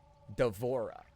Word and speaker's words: D'Vorah: Do we uh Oh, is pronounced Deborah with a V.